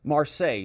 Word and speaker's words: Marseille: to all of this Marseille is how you say it sorry I'm not French